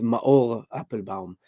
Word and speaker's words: Maor Appelbaum: It's going to be very difficult cuz the real pronunciation is ma apple bomb.